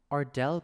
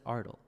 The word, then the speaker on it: Ardal: Ardell, but he says it Ardal. So, does it rhyme with smell or does it rhyme with mole?